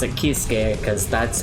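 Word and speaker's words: Kiske: And yes, it is Keese. They're pronouncing it correctly finally. Because he is named after the singer of Halloween? Halloween, yes. He's named after Michael Keese.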